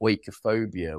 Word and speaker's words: oikophobia: Oikophobia. What's that word? So it's a British philosopher who coined the term from the Greek. You'll hear it pronounced differently by Greek people, but oikophobia is the general pronunciation, and it means hatred